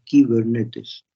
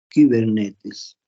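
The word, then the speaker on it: κυβερνήτης: Cibernética proviene del término kibernetes, un término griego, con K, Y, kibernetes. Se pronuncia esa I, se pronuncia como una U francesa, y kibernetes.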